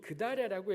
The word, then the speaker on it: 그달랴: 우리 개혁 성경이 그달랴라고 했지만 정확하게는 그달랴라고 하는 게 좋은 것 같아요. 이게 원래 발음이기 때문에 성경의 다른 곳에는 그달랴라고 되어 있는데 여기만 그달랴라고 되어 있지만 저는 굳이 그달랴 하겠습니다.